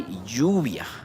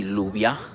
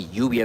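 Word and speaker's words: lluvia: We say yubia. Jubia. Amigos. Yubia. Right. So again, yubia has the double L. Right. We don't say lubia. No. Right. We say yubia because it has the two L's.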